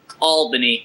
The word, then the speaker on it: Albany: Albany oh yeah radio baby it's uh it's pronounced Albany you Pittsburgh apparently I can't even announce the